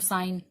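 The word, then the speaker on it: sign: साइन लिखती हूँ, साइन, इसके अंदर मैंने जी नहीं बोला क्योंकि यहाँ पर जी साइलेंट है।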